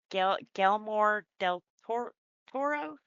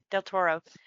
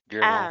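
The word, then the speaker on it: Guillermo del Toro: Gelmore Toro? Del Ge- Toro. Del Toro. Guillermo.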